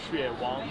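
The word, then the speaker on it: 雪王: Xue Wang.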